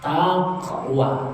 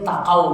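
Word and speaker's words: تقوى: ta Kaf wau ya Taqwa tengok Nah takqwa kalau gak ada ya akhirnya takau bacanya pernah saya ketemukan Masjid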